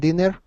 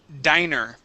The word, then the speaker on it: diner: Um, now this word here is diner. Instead of dinner, it is diner. Diner. Uh-huh. Yes. Dinner has two N's. Diner has one N.